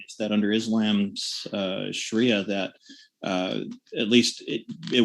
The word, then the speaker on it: sharia: legal system and uh please correct me if i'm pronouncing sharia incorrectly um no you're it's correct it's correct okay thank you um